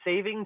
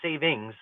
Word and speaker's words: saving: What bothers me the most about daylight saving time is people that pronounce that say savings. Incorrect grammar.